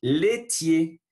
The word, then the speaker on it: laitiers: Les produits, voilà, le son U, les produits laitiers. Ce n'est pas les produits laitiers, sinon laitiers. A plus I sont E. Les produits laitiers. Voilà, je ne prononce pas le R et le S final.